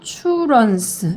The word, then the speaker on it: entrance: When is Susie's 그 다음에 N 그 다음에 T랑 R이 붙으면 추루라고 발음하셔야 돼요. 추루 그래서 entrance 이렇게 돼요. entrance N의 강세 표시 있기 때문에 N을 강하게 읽어줍니다.